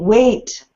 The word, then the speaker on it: weight: rhyme with sight but weight rhymes with eight so you have to